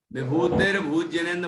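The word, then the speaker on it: विभूतिरभूज्जिनेन्द्र: आपने बोला विभूतिर्भुजनेन्द्र, विभूतिर नहीं बोलना है। मैंने अभी समझाया कि रा को आप यदि विभूति के साथ बोलेंगे तो उच्चारण अधूरा होगा। विभूतिर्भुजनेन्द्र बोलेंगे तो विभूतिर रा की रेफ लग गई वो, और भूत हो जाएगा।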